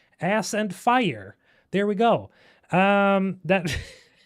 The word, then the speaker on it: Aspyr: It's apparently Aspyr, Aspyr, as you aspire to something, but it does It's not spelled like Aspyr. It's Aspyr. It's an ass and it's pyre. It's ass and fire.